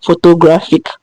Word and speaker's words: photographic: From this, GRA comes before fic. No, IC is with fic, is a syllable. So the next syllable after fic is GRA. So that's the one that has the stress.